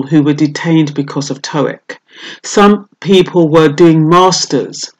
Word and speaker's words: TOEIC: English for international communication that's pronounced TOEIC that's what I'll be